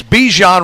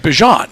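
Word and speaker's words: Bijan: And now he has that it's it's Bjan Robinson, but his mother pronounced it Bjon and we learned that talking to Bjon last year.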